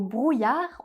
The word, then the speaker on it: brouillard: Et dans le mot brouillard on ne prononce pas le d final. Comme très souvent en français, on ne prononce pas la dernière consonne du mot.